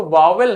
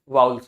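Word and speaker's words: vowels: वाउल्स क्या होते हैं वाउल्स इसको वावेल नहीं पढ़ते हैं बहुत से लोग इसे वावेल पढ़ते हैं वावेल नहीं होता वाउल्स होता है ठीक है वाउल्स वाउल्स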